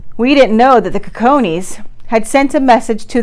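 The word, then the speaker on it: Cicones: I found most office which was the the cojones and so you might hear it pronounced another way someplace else but like I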